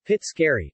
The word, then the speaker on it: Pizzoccheri: pizzo carry Italian pronunciation Fitz carry Val felonies pizzica pice cur are a type